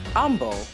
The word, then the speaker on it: Humble: humble no humble humble humble which is actually the way you pronounce that word of course it's silent h that makes total sense okay so the trick